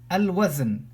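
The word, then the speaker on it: الوزن: Al-wazn, I will have to pronounce the lam because waw, the second letter, which has a fatha.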